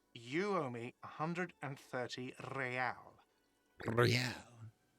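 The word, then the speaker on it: réal: hundred and thirty real real he pronounces the r with a mock aristocratic iir or inter isolary real is the global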